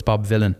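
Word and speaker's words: Bob Vylan: So, it's spelled like Bob Dylan weirdly, but it's Bob Villain.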